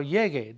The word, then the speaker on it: llegue: We have to maintain the hard G sound of llegar, the infinitive. So it's cuando llegue, double L, E-G-U-E, a casa.